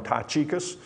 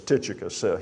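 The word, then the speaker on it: Tychicus: with another brother in Alabama we call him taus I think the proper pronunciation is T tius you'll hear me say taus that's just the way I was raised to say it but it's tius he's going with onesimus by the way that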